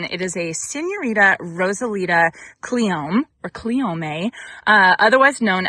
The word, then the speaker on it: cleome: am planning to plant some cleome or cleome. I I I looked it up, and apparently both pronunciations are correct. So, I'm just going to say cleome cuz that's where my brain goes.